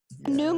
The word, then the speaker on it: GNUM: Noom with a silent G.